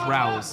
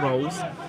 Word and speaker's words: Rolls: I do apologize if any of Scott Rolls's family were listening along because I actually been pronouncing his name as Rouse recently. It is Scott Rolls.